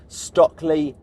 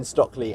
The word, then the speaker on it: Stöckli: am going to the Stöckli Ski Festival. And in fact, I've been told I need to stop saying Stöckli and start pronouncing it Stöckli, or at least Stöckli.